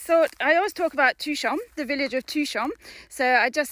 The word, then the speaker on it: Touchon: Okay, so Touchon. It's really easy. Touchon. So that's the village where we live. Touchon, it's 800 people. And it's Touchan, and you pronounce it Touchon.